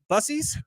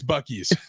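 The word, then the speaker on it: Buc-ee's: shirt on holy cow it's bies or is it pronounced busies it's bies guys it has everything it's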